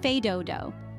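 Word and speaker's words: fais do-do: Spirit next we have fed Doo pronounced fed Doo the phrase translates to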